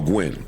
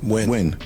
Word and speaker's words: Nguyen: These tips and many others like them cycled among defendants Drake, Ross, and Nguyen. Sorry if I'm Nguyen. Win. Oh, Gwen. No, win. It's just win. It's pronounced win.